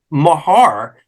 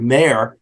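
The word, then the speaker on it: Maher: there was another individual named Joseph Mahar m-a-h-e-r or mayor depending on how you want to pronounce it he was a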